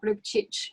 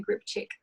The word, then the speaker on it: Grbcic: You actually pronounced it like a true Croatian, Georgia. You said Grbcic, which is, I believe, how you pronounce it in Croatian, but I say Grbcic in Australia.